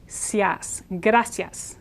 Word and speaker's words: gracias: when you do that again this I Blends so it becomes sort of like a y sound graas two syllables just like adios is